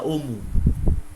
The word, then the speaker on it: homo: H dalam kata lain tidak diucapkan. Maka homo itu dibaca omu.